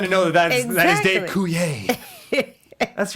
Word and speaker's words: Coulier: If it's a 90s reference, I'm going to know that is Dave Coulier. That's right. There's an R on the end there, but you don't pronounce it.